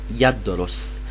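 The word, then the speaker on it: يدرس: see it on your screen, and it is pronounced yadrus.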